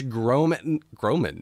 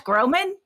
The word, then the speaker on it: Groban: know, Tina Fey, Joel Grey, Patrick Stewart, Josh Groban. Did you just call him Josh Groban?